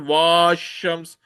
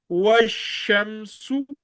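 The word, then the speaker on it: وَالشَّمْسُ: You will not pronounce it as washams. You will pronounce it as washamsu, washamsu, fashamsu, fashamsu, wa'amilu salihati, وَعَمِلُوا الصَّالِحَاتِ.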